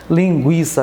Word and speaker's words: linguiça: linguiça nem liquidificador tá o fato de luta em bater sumido de algumas palavras da língua portuguesa não alterou a pronúncia então a linguiça perdeu o acento mas continua sendo linguiça né li o liquidificador